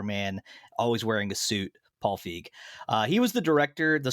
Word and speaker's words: Feig: This movie was, let's see, it was directed by Paul, I never know if you pronounce it Feig or Feig. I'm saying Paul Feig. I think that's how you're supposed to do it.